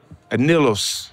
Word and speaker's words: anillos: One more time, B, give me the correct pronunciation. Anillos.